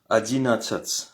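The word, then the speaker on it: одиннадцать: C'est adin adinat.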